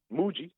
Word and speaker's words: Mooji: to mood Mooji right how you say it Mooji Mooji mo o ji I'm gonna go back